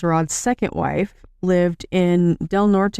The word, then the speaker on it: Del Norte: The stepmother, Judy Day, is Rod's second wife, lived in Del Norte, am I pronouncing that right? Yep.